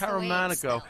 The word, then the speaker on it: Caramanico: Was I close? Caramanico. Just Caramanico. See, I would have said Caramanico so like that. Well, I'm sure if we were in Italy, it would be pronounced Caramanico. Yeah. But all right. since I've never been there, it's Caramanico. Yeah, I threw the fancy schmancy on there.